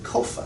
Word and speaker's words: COFA: COFA is how it's pronounced. C-O-F-A.